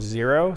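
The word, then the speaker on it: Xero: So this brand is called Zero, spelled with an X, X-E-R-O.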